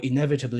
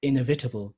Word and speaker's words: inevitable: So prevalent is right and prevalent is wrong. Or inevitable is right and inevitable is something you hear sometimes as well. Inevitable would be an incorrect pronunciation of the word. So you see how the language actually works based on stress.